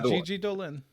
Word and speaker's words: Gigi Dolan: Did I pronounce that right? Yeah, Gigi Dolan.